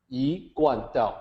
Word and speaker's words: I-Kuan Tao: And that is, so here I talk about the actual pronunciation, Iguan Dao, like that.